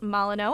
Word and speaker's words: Molyneux: food break, because we have executive chef Chris Molyneux.